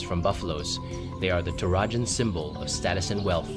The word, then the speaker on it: Toraja: In the region of Toraja. Yo, I was pronouncing it correctly!